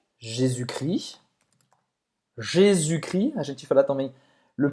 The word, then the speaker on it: Jésus-Christ: Então, Jésus-Christ. Jésus-Christ. Não vai pronunciar o S no final de Jesus, Nem CT. nem o S e o T, certo?